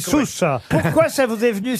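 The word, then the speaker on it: Soues: Ça s'écrit S-O-U-E-S, c'est bien ça? Sousse. Et on dit Sousse.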